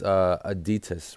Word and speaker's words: Aditus: am correct on that so detests ism adidas like like the shoe brand adidas is a new ICO